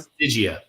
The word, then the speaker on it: Stygia: Is it pronounced Stygia or Stygia? Stygia.